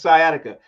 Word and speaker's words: sciatica: Is that how to pronounce it? Sciatica? Yeah, it's sciatica.